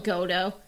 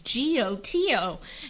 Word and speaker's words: Goto: don't know one of those I call them godo um yeah even though they're probably like the proper name is g-o-t-o and I'm like no one has time to